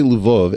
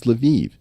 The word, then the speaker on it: Lviv: Now, by the way, if I say Lvov, everyone's going to correct me and say, no, Eric, it's Lviv. It's like, no, these cities all have multiple pronunciations.